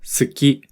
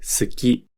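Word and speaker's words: 好き: listen to the word tsuki which means to like notice how we don't really pronounce the u sound when we say saki it's common for the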